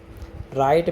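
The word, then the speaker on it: write: तो यहाँ पर डाउट में हमारा बी साइलेंट है, राइट में हमारा डब्ल्यू साइलेंट है, नॉलेज में हमारा के साइलेंट है।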